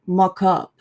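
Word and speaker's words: mockup: So, with this one, you just have to pay attention to the stress. So, we say mock up, not mock up. So, the stress is on the first syllable, mock up.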